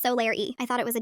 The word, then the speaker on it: Solareigh: Pronounced Solaire.